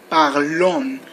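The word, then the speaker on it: parlons: else with new you have to say new parlon that is is not pronounced only the O and the N no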